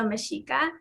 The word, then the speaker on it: Mexica: The X in Mexico, in the indigenous language of Mexico called Nahuatl, is pronounced sh. So Mexico should be pronounced Mexico. And the people of Mexico are the Meshika.